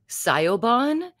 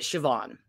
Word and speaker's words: Siobhan: about is Siobhan Walsh it's uh spelled like Sayo Bond but you enunciate it Siobhan and her name is